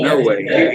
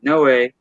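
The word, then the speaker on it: Noé: name no way uh n o o e but they pronounced it in no way he's from Mexico no n-o-e no way and uh his wife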